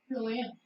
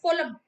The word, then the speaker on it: phloem: This is some students pronounce like this phloem. This is not a phloem. This is the phloem.